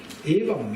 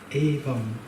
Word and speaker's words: Evam: Evam, you wouldn't believe. It's just 2 words, it's just 2 syllables. Evam.